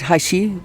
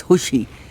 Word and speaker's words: Hushe: this is middle school hushi is spelt hashi it is a but that is wrong pronunciation it's hushy i've been corrected these are popular trees